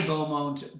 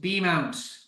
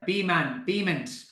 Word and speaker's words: Beaumont: So hello, Sue, Anne, Lindsay, Ali Beaumont, B-Mount. There we go, pronouncing it better. Beaumont, not Beaumont.